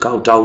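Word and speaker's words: kowtow: ये जो KOWTO काउटाउ ही है इसका प्रोनाउंसिएशन, इसका नाम कोटो नहीं है, इसका प्रोनाउंसिएशन काउटाउ ही है, काउटाउ।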